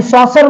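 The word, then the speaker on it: saucer: सी इ आर ए हा जो याच्यामध्ये सी आला याचा क असा उच्चार न होता सच होतो ठीक आहे सॉसर हे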